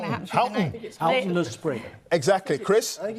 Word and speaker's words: Houghton Le Spring: He says Houghton. Houghton. Well, this is going to happen through the night. Houghton Le Spring. Exactly, Chris. I think it's Houghton.